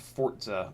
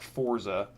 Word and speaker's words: Forza: is an arcade game um and yes it's pronounced Forza I'm not just mispronouncing it that's actually how it's supposed to be pronounced not Forza Forza like fortnite but less like Fortnight but